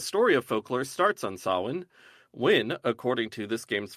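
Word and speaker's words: Samhain: One word I do know how to pronounce is sawin, an old Gaelic festival which begins the night of October 31st.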